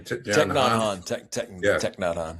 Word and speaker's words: Thich Nhat Hanh: I don't know how to pronounce his name. Thich Nhat Hanh, yeah.